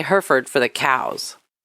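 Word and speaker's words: Hereford: No, I always thought it was herford shirt cuz we say herford for the cows. Oh, okay. They know Herford. We don't we don't pronounce it Heraford.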